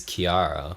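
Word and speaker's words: Chiara: barchetta as well yeah but CH in Italian is like a k sound yeah I'm talking like I'm an expert I'm not I googled this for five minutes well my sister's name is Kiara which is Italian so c h c h yeah yeah yeah thanks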